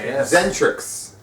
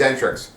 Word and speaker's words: Xentrix: band again oh yeah zentrix that's how you say it it's very exentric zentrix they recently played their